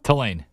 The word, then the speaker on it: Tulane: Tulane.